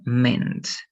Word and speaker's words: meant: Esto ya no se pronuncia mean, sino me, y va a ser meant. ¿Ya?